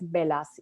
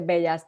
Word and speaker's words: Bellas: demás es Maritere Rodríguez Velas, y es B de bueno, ELLAS, Maritere Rodríguez Velas, en español podría decirse Bellas, pero mi esposo es griego, así es que 2L en griego se pronuncia como una.